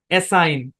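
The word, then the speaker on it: assign: কি বলেন এই শব্দের উচ্চারণ হচ্ছে এসাইন কি উচ্চারণ এসাইন এসাইন এটা একটু ভালোমতো বুঝেন ব্যাখ্যা দিচ্ছি ভাই ব্যাখ্যা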